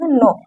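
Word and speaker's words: know: आगे देखते हैं, नो, नो का मतलब होता है जानना। आपको हम बता दिए कि यहाँ पर साइलेंट है।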